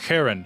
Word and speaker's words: Charon: at describes it as starting to make a k sound but not finishing it so it's more like an H but like an aggressive H I'm gonna try to